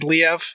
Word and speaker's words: Liev: Then after she said Leave a few times, because it's Liev Schreiber. Yeah. After she says Leave a couple of times, then she says Liev.